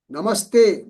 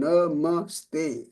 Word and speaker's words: namaste: Namaste. No bar anywhere. So it is all short sound. Namaste.